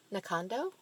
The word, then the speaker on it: Knockando: we've been practicing that is not the correct pronunciation. Not at all. It's actually, Kim, do you want to give it a try? Knockando?